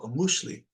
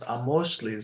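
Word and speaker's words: amoxtli: Most people will be like, oh, amushli. But it's actually pronounced amoshli. So this is an O.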